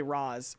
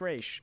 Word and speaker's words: Ra's: use of people say Roz and then like Talia I think is the one who says it's actually pronounced race common misconception and that's all well